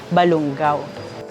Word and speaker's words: Balungao: ay young widow at naging ang pronunciation po later on ay Balungao maraming pinagdaanan ang Balungao